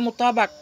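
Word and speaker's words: مطابق: Bagaimana cara baca mutabak? Bi fathil ba'i. Dengan fathah ba, mutabak.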